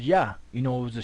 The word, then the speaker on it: Yah: where the name of the most high is pronounced yah you know it was a shorten form of